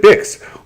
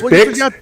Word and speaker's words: Bix: Like pronounces it Bix, like kicks. So there's Bix, kicks. You have to hit 300 words or you don't get Google. But with a B, or like fix with an F, or like tricks with